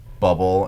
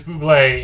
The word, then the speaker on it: Bublé: ham and champagne restaurant are we sure his name isn't actually bubble and he just pronounces it weird no no it is Bublé and Buble try to explain to him but it's not bubble and it doesn't really